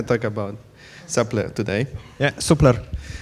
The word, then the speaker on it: Supler: about supplier today yeah supler is the correct pronunciation okay so basically yeah